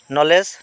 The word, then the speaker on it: নলেজ: জি বর্ণ সাইলেন্ট বর্ণ নলেজ নলেজ মানে জ্ঞান ইয়াতে কে বর্ণ সাইলেন্ট বর্ণ সাইকোলজি সাইকোলজি মানে মনোবিজ্ঞান